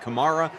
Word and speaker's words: Kamara: on names you know for a while Kamar then it became cherra then I heard him him say his name the other day and he said Kamara so now I need to go back to Kamara can we just can